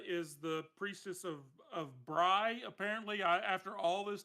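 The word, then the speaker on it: Brigh: it actually says uh it says b-r-i-g-h and then in parentheses it says Bry so I'm assuming the pronunciation is not a cheese it is not bringing it is Bry but um so you've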